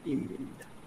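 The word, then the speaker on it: 입니다: ইমিন্দা। আমরা জানি ভাচ্চিম বিয়োগের পরে মূল বর্ণের নিয়ম থাকলে বিয়োগের উচ্চারণ ময়ের ম মতো হয়ে হয়, যাবে।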